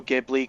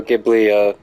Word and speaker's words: Ghibli: seen the Ocarina of Time Studio Ghibli crossover fan-made film?